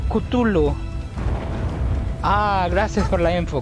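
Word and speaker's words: Cthulhu: a ver según que se pronuncia como kutulu Ah gracias por la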